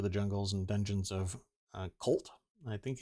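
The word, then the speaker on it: Chult: dlc travel through the jungles and dungeons of colt i think it's pronounced c-h-u-lt in the forgotten realms searching for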